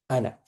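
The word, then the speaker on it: أنا: It means that alif, even though it's part of the spelling, it doesn't exist. Okay, so this ana, normally it would be ana. Normally, that's how it's spelled, but the way you say it is not like this. You say it like ana.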